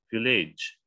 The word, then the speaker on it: village: Ya, tapi kalau di belakang GE nggak bunyi E-nya, jadi J saja. Village.